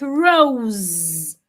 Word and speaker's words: rose: Like in words like rose. The S in rose sounds like Z.